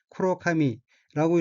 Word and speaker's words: 黒髪: 셋째 줄 첫 번째 어는 한자가 흑발이고 각기 거물흙 털럭 발자이고 일본어로는 쿠로카미라고 읽으며 쿠로카미는 검은 머리라는 뜻입니다.